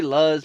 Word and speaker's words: Luz: See, they pronounced it loose in here. So I just got to go with loose. And, you know, I was going to say Luz, but, you know, loose it is.